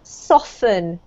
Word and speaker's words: soften: This actually doesn't have a Soften. T sound. It's pronounced soften. Soften. Ah, okay. Soften. Yes, well done. As if it had a double F rather than a T.